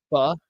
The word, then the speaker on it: pho: Pho Factory. Pho. Yeah, have you ever had it? Pho. Yeah, it's like Vietnamese rice noodles. Okay. It's spelled PHO. Oh, I thought it was Pho. It's pho. Pho.